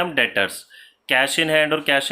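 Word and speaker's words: debtor: पहला एग्जांपल हम इसका समझते हैं बेटा, डेटर्स। डेटर का मतलब होता है, इसमें बी नहीं पढ़ते बेटा, डेप्टर नहीं प्रोनाउंस करते, इसको डेटर पढ़ते हैं।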